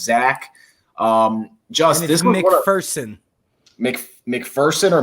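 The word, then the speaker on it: Zech: His name it looks like Zack Mcpherson. It's actually pronounced Zach.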